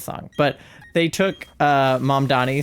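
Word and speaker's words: Mamdani: It's um I can't think of the name of the song, but they took uh Mom Donnie spelling his name. Yeah, the name is Mom Donnie.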